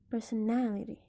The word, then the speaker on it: personality: it's considered a suffix so if you spell person then the stress is going to be in the first syllable person but if the suffix exists the stress moves from per to now so it's going to be personality let's move to the